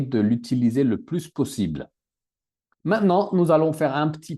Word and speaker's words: maintenant: dérouler juste maintenant. Pas maintenant, mais maintenant. Maintenant, Oui, le T. On maintenant.